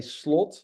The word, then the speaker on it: Slot: to be honest uh we would say slot uh so it would be slightly different but you know with